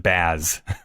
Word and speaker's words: jazz: I love the fact that because she's French, he's rhyming jazz with baths, but she pronounces it baz.